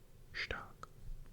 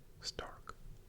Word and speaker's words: stark: And if there's an ST sound, you'll pronounce it like st, as in stark. It's not stark, but rather stark.